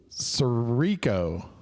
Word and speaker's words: Sirico: Greg, I can say and pronounce that. Sirico.